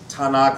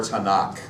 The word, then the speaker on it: Tanakh: For them that's, and I've heard it pronounced both ways, Tanakh or Tanakh.